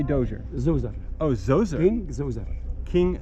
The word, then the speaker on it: Djoser: for the closure right how do you say Dozier Joseph oh so sorry King Djoser alright and this was all behind that fence